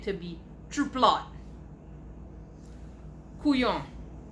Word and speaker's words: couillon: Couillon, pronounced couillon, like couillon, means imbecile or fool. We usually spell it like it's said, so couillon.